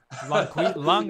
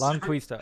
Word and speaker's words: Longquista: Longquista is how you pronounce that horse. Longquista.